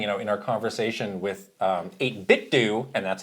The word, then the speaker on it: 8BitDo: I also had, in our accessories video, we were saying, in our conversation with 8BitDo, and that's how you pronounce it, don't come at me.